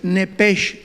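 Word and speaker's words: נפש: de Nancy Eden Enrique p de Pedro sh nepege tal como suena nada más que la ch en el hebreo se pronuncia como J se pronuncia nepeg como jota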